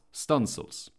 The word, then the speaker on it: studding sails: Studding sails, pronounced stunsails, are extra sails mounted from an additional stunsail booms that run out along the yards.